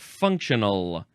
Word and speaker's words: functional: Now we have functional. You can do it 2 syllables or 3 syllables. Functional, functional.